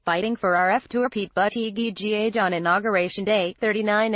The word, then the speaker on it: Buttigieg: Surname is pronounced Buttigieg.